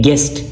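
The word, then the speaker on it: guest: गेस्ट गेस्ट you silent है।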